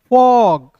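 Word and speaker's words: fog: फिर देखिए F फॉर, G ग, ओ का उच्चारण औ, फॉग, P प, T ट, और ओ है तो इसका उच्चारण औ के रूप में फॉग।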